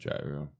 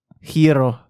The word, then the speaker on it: gyro: something like that yet technically it's not pronounced gyro how to pronounce gyro hero you know you know Greek you know it's a Greek food yes Wow I knew